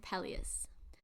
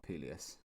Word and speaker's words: Peleus: I'm glad you chose to go with Peleus and not Peleus. Yeah, the thing is with all of these different pronunciations, because the most recent one we've listened